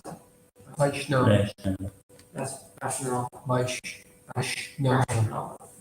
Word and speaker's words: Vaishnava: How do I pronounce that? Vaishnava. That's Vaishnava.